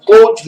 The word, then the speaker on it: Claude: estudioso aqui conhecido como Cloud livest é escrito Cloud mas a pronúncia é clou CL Liv TRS ele